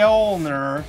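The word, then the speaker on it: Mjölnir: west only he was worthy may hold the ulnar that's the correct pronunciation so when you can't hold them anymore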